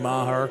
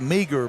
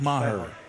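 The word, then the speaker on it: Meagher: Even the PA announcer's calling Maher. It looks, it's spelled M-E-A-G-H-R. It looks like Meager, but it's pronounced Maher.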